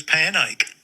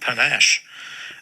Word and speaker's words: panache: written, in my mind I thought it was panache.